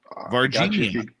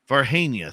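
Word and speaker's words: Varginha: an alien from the I'm gonna pronounce this wrong Virginia Virginia it's Virginia vargenia thank you Brazil UFO landing where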